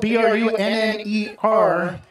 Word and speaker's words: Brunner: Looks like it's spelled B-R-U-N-N-E-R, which in most cases is pronounced Brunner, but...